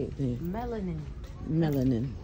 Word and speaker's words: melanin: Melanin. Melanin. It's like watermelon.